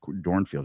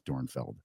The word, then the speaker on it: Dornfeld: I just double checked how to pronounce it's dor dorfield like no it's dornfeld yeah share that yeah